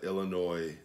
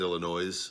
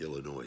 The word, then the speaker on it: Illinois: rape says goddamn it it is only people in Illinois that know the S is silent and so I might have said Illinois's on the video I